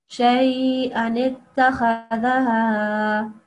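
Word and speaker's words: شَيْئًا ٱتَّخَذَهَا: the small noon afterwards, the rule is that if there is a small noon and beforehand there's this Hamza or Alif, then we don't prolong that. So we just say Shay a nitta, okay? Shay a nitta khadaha, like that.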